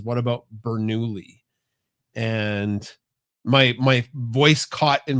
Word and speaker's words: Bernoulli: Yeah, it was, and it's so fun to say Bernoulli, like that's how I say his name.